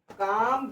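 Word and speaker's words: calm: काम ब्रेन ये देखो सी ए एल एम अगर एल के बाद एम आता तो एल साइलेंट हो जाता।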